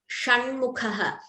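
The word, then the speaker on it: षण्मुखः: Sha, Shanmukhaha. Now this sha, you twist your tongue more compared to sha. Shivaha Shanmukhaha. I hope the difference is clear. So that difference has to be there in pronouncing.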